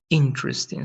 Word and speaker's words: interesting: And this interesting. So in both, the stress is in the first part and this with ed.